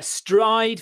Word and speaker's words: Stryd: It's called a Stride. It's spelled STRYD.